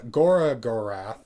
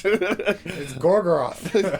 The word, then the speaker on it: Gorgoroth: They pronounce Gorgoroth, Gorath. Yeah, there's Gorath. Yeah, and I was just like, Gorath. I've never heard that before. I wonder what that means. And Dakota was just like, it's Gorgoroth.